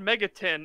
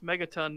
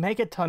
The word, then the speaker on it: Megaton: to be honest yeah he said Mega tin and I'm like I have never heard anybody pronounce Megaton that way before neither have I that's not